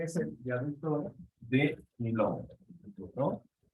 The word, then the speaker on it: Millau: Ese viaducto es, según Google, su pronunciación es el viaducto de Milón, ¿no? Y bueno, se escribe, y los que sepan francés, pues se escribe así, Millau, ¿no?